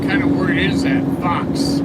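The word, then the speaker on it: faux: Fox. I mean, what the is that? What kind of word is that? Fox. F A U X. You sound like you're saying fox. The animal fox.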